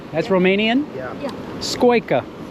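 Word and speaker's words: scoică: how do you say it in your language squa that's Romanian yeah yeah squa it's a squa s I learned a new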